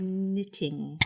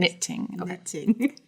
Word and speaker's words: knitting: was doing so good knitting that's the word in case you're curious knitting the K is silent it's weird so stupid